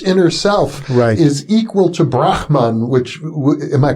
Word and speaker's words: Brahman: Atman, my deepest inner self, is equal to Brahman, which, am I pronouncing that correctly? That's right, Brahman, I had a kind of hard CH, Brahman?